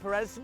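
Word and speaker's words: Pérez: It's Perez. It's because I've changed my pronunciation of it to the right way, and now it's screwing me.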